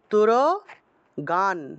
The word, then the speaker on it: তুরগান: নিচে হসন্ত নাই জঘান তুর গান এখানে তুরগান বলতে হবে কারণ দন্তীয় এর নিচে